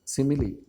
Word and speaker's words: simile: It is pronounced as simile.